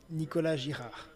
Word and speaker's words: Nicolas Girard: What's the correct pronunciation, Felix? You're a native French speaker. Nicolas Girard. Nicolas Girard. Exactly.